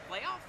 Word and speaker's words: Palaev: It's a little bit more of a mid-range game, but hey, how are we pronouncing your name? Playoff. Playoff? Like playoff? Playoff? Not Palaev?